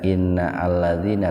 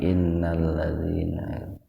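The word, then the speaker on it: إن الذين: Hamzah zaidah itu kalau disimpannya di awal itu diaktifkan membacanya itu allazina gitu. Tapi kalau didahului oleh kata yang lain maka hamzahnya diabaikan, enggak inna allazina tapi innallazina.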